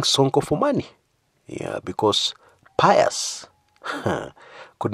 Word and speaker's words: Pius: Yeah, because pious could not help. Now, for those who are not in the know, pious is actually Passaris' husband. Although we Africans pronounce the name Pius.